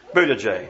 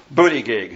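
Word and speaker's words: Buttigieg: ultimately queer man like Pete budajay or booty gig however the current Secretary of Transportation wants his name to be pronounced no way for a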